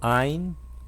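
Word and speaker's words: עין: O Ain também é mudo. Algumas consoantes são mudas. Por exemplo, o Aleph é mudo, o Rei é mudo, o Ain também é mudo. Ele não tem som.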